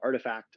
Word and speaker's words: RTFKT: There are really cool companies working on this, like Genies is one of them, or Nike just bought a company called Artifact, RTFKT is how it's spelled, which does a lot of NFT digital sneakers.